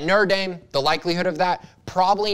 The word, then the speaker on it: Notre Dame: notre dame i know i said it right notre dame the likelihood of that probably not high but